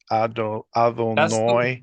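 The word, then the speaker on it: Adonai: I tend to also pronounce it noi, adonoi. That is the way Ashkenazi Jews usually do it.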